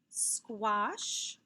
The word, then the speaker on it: squash: ah sound as well let's take a look at these words squash squat and qualm not a word you hear very often what is representing the ah sound in these words also in a very good even though it sounds like an o it's also represented by an a that's right when the